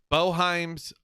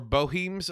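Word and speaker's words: Boeheim: I've heard it pronounced both ways, Boheim or Boheim.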